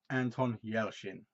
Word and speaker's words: Anton Yelchin: highly highly recommend and he's very good it's pronounced Anton Yelchin okay yeah I always get it wrong and